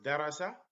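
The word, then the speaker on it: دَرَسَ: the short vowels so here we pronounce darasa and in this one we say so darasa is to study der rasa is to teach someone so Dar rasa is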